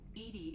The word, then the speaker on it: EDI: why are you named Edie Edie is the phonetic pronunciation of EDI that is an acronym for enhanced defense intelligence oh where are you